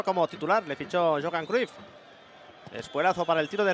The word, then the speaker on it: Cruyff: la última etapa de Johan cruyff de Johan Craft de hecho es como se pronuncia en holandés en el Barça en